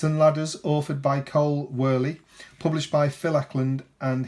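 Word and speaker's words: Wehrle: And Cole, I think it's pronounced Worley, because I would have thought Whirl, but I'm sure I heard somebody say Whirly.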